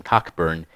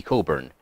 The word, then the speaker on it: Cockburn: might have noticed that i pronounced the british commander's name cockburn and be aware that his name was actually coburn there was a reason